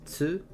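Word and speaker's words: つ: You pronounce this as tsu. The T sounds very soft like a tsunami.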